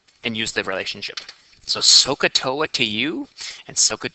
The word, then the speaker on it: SOHCAHTOA: thing that I used to remember it it's pronounced sohcahtoa sohcahtoa oh yeah you said so katoa this